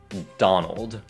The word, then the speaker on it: Donald: Thứ nhất, ở đây không phải Don mà là Don. Don. Còn ở đây, hai phụ âm cuối này rất quan trọng. Old. Old. Donald.